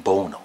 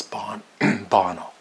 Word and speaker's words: Bono: Through the years, I've sometimes called him Bono because I don't know how you really pronounce his name. But of course, now I do. It's Bono.